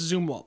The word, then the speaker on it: Zumwalt: We have different pronunciations. So I call it Zoomwalt and Zoomwalt. Alsea Falls. So I go for Alsea? Alsea? Alsea. Alsea. Alsea. But I don't know what the proper. I know it's Zoomwalt though.